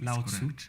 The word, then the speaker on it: Lao Tzu: Also, did I pronounce that correct? Yes. Lao Tzu? Yes.